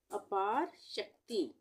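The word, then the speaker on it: अपारशक्ति: अपार शक्ति इसको हम अपार शक्ति को हम दो भागों में इस तरह से बांटकर पढ़ सकते हैं अपार और फिर शक्ति पार शक्ति शक्ति में आधा क और त आ रहा है त पूरा आ रहा है तो यहां पर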